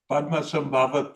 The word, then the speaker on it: Padmasambhava: And then the other project I visited was out at the PPI, or can you pronounce it, please? Padmasambhava Peace Institute.